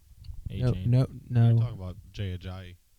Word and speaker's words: Ajayi: How do you pronounce his last name? A Cham, Mm. I believe. A-Chain. No. You're talking about Jay Ajayi.